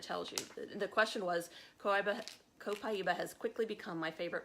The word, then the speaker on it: Copaiba: you Copaiba fans, and it is Copaiba. That's how I keep pronouncing it. I've got to correct my Copaiba, which I'm still not convinced, but I don't know. But everyone is saying Copaiba. Copaiba.